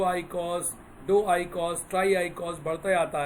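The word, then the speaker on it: eicosa: 20 पे थोड़ा बदलता है, स्पेलिंग होती है EICOS। इसको हम लोग आइकॉस बुलाते हैं।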